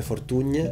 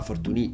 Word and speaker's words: Fortuny: venduti forte di opportuni nessuno dei due è quello corretto e la pronuncia corretta sarebbe fortune alla catalana visto che lui era originario di re use il problema che poi arrivano i francesi la moglie la francese lo chiama fortuny e quindi anche lì